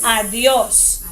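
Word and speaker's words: adiós: next word you call adios adios or see the accent over the oh yeah so you see that's where you stress okay and let's go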